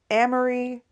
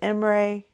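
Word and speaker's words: Imre: about the story itself there's mispronunciations of names of cities Amory instead of emray which Cobb is so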